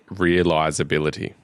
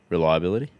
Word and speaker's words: reliability: 3 things he loves: the looks, the functionality, and realizability. Reliability?